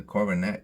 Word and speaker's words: coronet: so um the Coronet now that I know it's the schw makes it easier to pronounce the coronette that is a simple